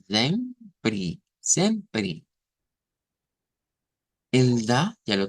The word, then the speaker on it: sempre: Pero cuidadito con quererlo leer como que fueras siempre. Vean, no, el sonido va a ser un zen, sempre, sempre, sempre.